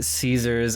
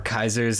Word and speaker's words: Caesar: main enemy will be Caesars or Kaiser's Legion depending on how you want to pronounce it as the NCR we